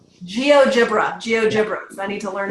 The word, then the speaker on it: GeoGebra: to the online app geogebra did I say that right with his soft G geogebra geogebra geogebra I need to